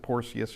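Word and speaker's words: Porcius: that but that is C's in Latin are pronounced as K's and it does look like porus and uh if you don't want to get into the porky discussion you just pronounce it porus and go on uh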